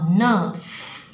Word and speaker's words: enough: 好，第一个 in 就是 e， OK，然后 enough，GH 这里特别念成负的